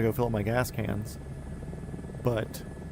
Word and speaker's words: Cairns: and be like, "Look, it's pronounced cans, you faggots."